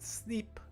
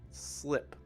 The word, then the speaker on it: slip: It's not E, it's I, right? Slip. Not sleep, but slip.